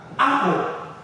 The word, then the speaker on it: apple: You have apple. Apple. Right? You have apple. Apple. So the stress is on the first syllable, the a.